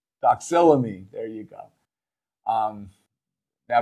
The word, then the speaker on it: doxylamine: are the Unisom the dicyclomedaya dicyclomine I always pronounce that word wrong doxella me there you go um now be careful Unison